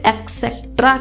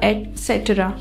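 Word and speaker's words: et cetera: डॉट लगा देते हैं तो हम इसे एक्स्ट्रा कहते हैं जो कि बिल्कुल गलत है इस हम एक्स्ट्रा करेंगे जो मिट्टी से स्टार्ट होगा एटसेट्रा ठीक है हमारा अगला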